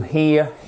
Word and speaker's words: hear: I love to hear the sound, to hear, on fait bien le H aussi ici.